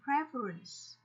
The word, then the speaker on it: preference: Các em có thể lưu ý cái cách phát âm của cái động từ prefer, nhưng sang danh từ thì nó sẽ đọc thành preference.